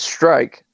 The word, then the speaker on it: Rozenstruik: Rozenstruik, man, remember that name. And it's Strike for anybody that's concerned with pronunciation. Hand up. It is Strike.